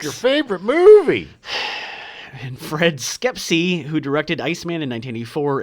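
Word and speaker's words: Schepisi: And Fred Skepsey, who directed Iceman in 1984 and Roxanne in 1987. I like to call him Fred Shapepsi. Shapepsi? That's not how it's pronounced That's at how all.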